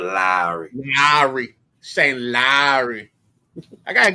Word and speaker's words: Lowry: You got to draw that out, Lowry.